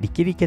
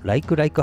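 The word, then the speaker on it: Likelike: 違ってもライクライクハイウェイとは読まないようにご注意ください。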